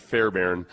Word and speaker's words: Fairburn: Let me see where Fairbairn. Tell them around here we pronounce it Fairbairn.